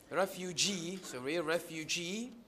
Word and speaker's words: refugee: Yes, in some complex words, the primary stress is on the suffix, not on the stem.